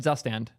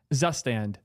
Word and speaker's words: Zustand: I'm going with that I just want to make sure I get it right once so I can go back to pronouncing it wrong I'm not going to